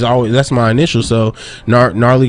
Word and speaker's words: Gnarly: that's my initial so gnarly got a silent g it's a bar in